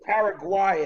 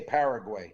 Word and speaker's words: Paraguay: It could be Paraguay as well. I've heard it pronounced like that, but we say Paraguay.